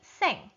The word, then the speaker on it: cinq: Sink ya. Seng, bukan sing. Seng. Ya, seng, bacanya seng. C-I-N-Q, seng. Seng itu bahasa Prancis artinya 5.